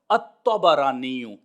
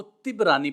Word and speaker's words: الطبرانی: جو اعراب بتایا ہے وہ ہے تا، با اور را کے اوپر زبر، الطبرانی، یہ اصل میں تلفظ ہے۔ بعض احباب اس کو طبرانی پڑھتے ہیں، یہ درست نہیں ہے، یہ طبرانی نہیں ہے اور نہ ہی طبرانی ہے، بلکہ تینوں کے اوپر فتح ہوگا، الطبرانی۔ اب یہ جو نسبت